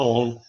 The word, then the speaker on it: un: 1 si scrive come vedete, si pronuncia on.